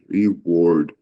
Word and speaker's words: reward: underline is reward r-a-w-a-r-d reward um it's a reward repeat after me yes sir reward okay so w and a is usually watch so just be careful there next underline is inevitably